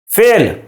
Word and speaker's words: فعل: پر بھی غور کریں، میں نے اسم نہیں پڑھا، اسم سین ساکن ہے، فعل عین ساکن ہے، حرف نہیں، را پر زبر نہیں ہے بلکہ را ساکن ہے۔ حرف، تلفظ کا درست